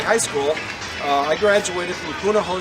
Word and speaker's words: Punahou: I graduated from Punahou School, that's spelled P-U-N-A-H-O-U, in Honolulu, Hawaii.